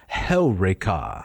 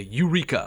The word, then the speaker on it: Heureka: Although most people would say Eureka. Eureka. They would put the emphasis on the penult. On the wrong syllable. That's right. Yes. It goes on Heureka.